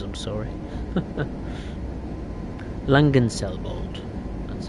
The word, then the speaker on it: Langenselbold: Well, I think the next station is the one we're meant to stop at, which is Langenselbold. Bold. I'm terrible with these names, I'm sorry. Langenselbold.